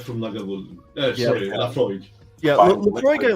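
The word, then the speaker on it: Laphroaig: Or Lefraigue. Ooh, Lefroy. It's a bit. Chris knows how to pronounce it. I can't. Oh, Lefroy. Lafroy. It's really Lefroy.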